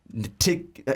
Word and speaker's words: Ntilikina: Francis Ntilikina.